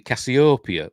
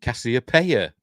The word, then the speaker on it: Cassiopeia: she's pointing out now in the commentary, she says she pronounces it Cassiopeia, which is kind of how I pronounce it, but apparently you're supposed to pronounce it Cassiopeia. Don't know why it makes a difference, but because it's probably pronounced something in ancient Greek, it's probably something totally different.